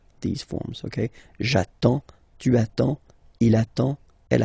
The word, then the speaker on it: j'attends: So the first form will be j'attends. J'attends. Okay, you get D and S. Well, basically you don't pronounce them. Okay, and then you get only the sound attends.